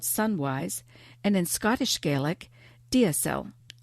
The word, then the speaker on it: deasil: and in Scottish Gaelic, deasil, spelled D-E-A-S-I-L. And it's a word that I've also been told is pronounced jessel.